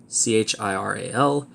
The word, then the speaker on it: chiral: said to be chiral CH IR al pronounced chiral which is from the Greek for hand handedness is